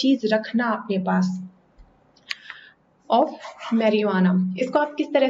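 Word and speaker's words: marijuana: से प्रोनाउंस करते हो मैरी जुआना ज यह जो ज ह यह साइलेंट होता है इट्स मैरिहुआना य ह और य इनको मिला के साउंड यहां पे आती है ना कि ज की मैरिहुआना यह हो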